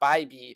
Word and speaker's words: Bybee: the black book Tanner Bybee versus the Tigers spelled Bibby but we will pronounce his name the right way on the show by B he gets the Tigers